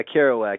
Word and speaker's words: Kerouac: Oh yeah, Kerouac. Yeah, Kerouac. I always say his name wrong.